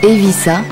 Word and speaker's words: Eivissa: Sa capitale, dont le nom se prononce en catalan Eivissa, se situe au sud-est de l'île.